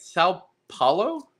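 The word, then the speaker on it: São Paulo: It's like kind of between you're my pal and Powell. Like Colin Powell?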